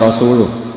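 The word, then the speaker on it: رسوله: Allah itu terbebas, tidak urusan dengan orang musyrik, wa rasulih juga gak ngurus Rasulnya. Kalau sama Rasul saja tidak ngurus, apalagi sama kita. Terus sama Sayyidina Ali dibenarkan, yang benar bacanya itu wa rasuluh, Allah bari minal musyrikin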